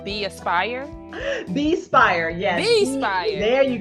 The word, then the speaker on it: Bespire: new project that's upcoming I don't want to mispronounce it but I think it's called be Aspire be Spire yes Be Inspired there you go there you